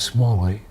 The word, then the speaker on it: Smalley: tight more than Marvin my last name is small way yes MA ello ey